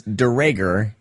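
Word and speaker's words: Duregger: Durager. It's DeRager, and it's like my grandpa had to put a capital R, D-U capital R-E-G-G-E-R, just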